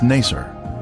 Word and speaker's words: Naser: is the uzengili village its former name in the 19th century was Naser this pronunciation is similar to nicer a village that the